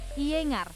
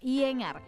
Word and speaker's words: Iyengar: ih ingat mbak-mbak yinger ingat iyengar sebenernya bacanya kayak gini kayak iyengar ini salah satu jenis yoga